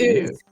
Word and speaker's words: Uz: But this man's last name was Uz. Ooze. Pronounced Ooze.